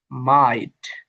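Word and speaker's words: might: rule এসে বলা হয়েছে জি এসটি শব্দের মধ্যে বা শেষে বসলে শুধু ঠি উচ্চারিত হয় যেমন দেখেন জি এসটি তিনটা কিন্তু একত্রে সরি এটা বলা শব্দের শেষে থাকলে শব্দ শেষে টি কষেত্রে শুধু ঠর উচ্চারিত হবে অর্থাৎ এটা হবে মাইট মাইটটা লাইট রাইট নাইট 24 শব্দের শুরুতে ই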